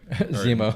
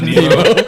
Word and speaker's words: Zemo: It's Nemo, right? Zemo. Not Nemo. Finding Nemo from Finding Nemo was the villain of Civil War. Zemo.